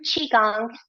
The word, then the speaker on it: qigong: than the spelling so the pronunciation is chi like cheese without an S Chi and the second